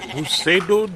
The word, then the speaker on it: Pseudo: Pseudo Jim. God damn it. It's pseudo. Pseudo Jim. You do not pronounce the P.